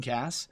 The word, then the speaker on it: Kass: name my last name is actually Cass it's spelled very weirdly I understand that I even